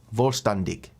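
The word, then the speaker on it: Vollständig: Volstandig is how you say it phonetically.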